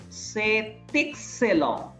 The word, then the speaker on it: c'est excellent: We pronounce the consonant. So here c'est excellent, we are saying excellent, কিন্তু এখানে কিন্তু আমরা বলিনি c'est délicieux, here t is silent, here also t is silent.